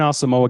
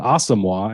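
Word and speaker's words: Asamoah: of special teams Brian asamoa got two snaps um getting outplayed by Ivan Pace I I shouldn't even say that um as um asima as it should be pronounced right yes wasn't uh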